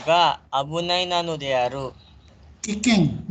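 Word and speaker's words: 危険: Kikeng, dibacanya kikeng, bukan abunai.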